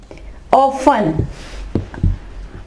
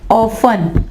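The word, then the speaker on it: often: एस आया हुआ है और यहाँ पे ये साइलेंट होगा टी जो है। ठीक है, लिसन। ऑफन, ऑफन, अक्सर।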